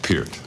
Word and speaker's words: Peart: Parrot's sandwich. It's just Peart.